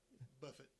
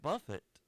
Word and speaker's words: Buffett: You know, it's spelled Buffett, but then everybody says buffet.